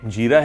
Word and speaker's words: jeera: What I think is that it is pronounced as jeera and not zeera, tell me what you think it is called? Till you’re thinking if it’s called jeera or zeera, I will show you